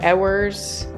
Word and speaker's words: Ewers: correct oh sweet yeah most people say ERS or ers yeah so ERS is correct it's like a baby